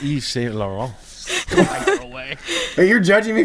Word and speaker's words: Yves Saint Laurent: So Oh, it's Yves Saint Laurent.